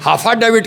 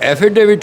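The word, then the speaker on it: affidavit: हाफाडेविट कहते हैं। कैसे कहते हैं सर? हाफाडेविट। हाफाडेविट। हाफाडेविट। तो हाफा डेविट नहीं होता है। एफिडेविट होता है।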